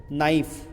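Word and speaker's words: knife: जैसे नाइफ आप लिखते कैसे हैं? एन आई एफ ई। ठीक है? लेकिन इसमें के साइलेंट है।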